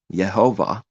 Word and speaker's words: Yehovah: Yehovah, with the stress mark at the end.